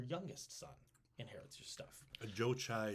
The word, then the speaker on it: Jochi: son inherits your stuff Joe chai sounds like a Starbucks order yeah I'll take a Joe chai yep yep oat milk please yep oat milk yup yes please now uh jochi is how I'm pronouncing